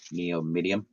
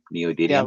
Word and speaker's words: neodymium: you say that word Neo medium neodymium like that magnets so so they